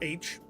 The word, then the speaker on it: Aech: It's spelled AECH, but pronounced the letter H, like, you know, H.